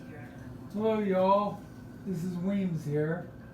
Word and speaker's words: Weams: This is Weams here. It's spelled Williams.